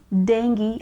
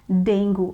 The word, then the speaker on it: dengue: people next word is dengue dengue yes we pronounce it as dengue and not dengue okay dengue is not the right pronunciation it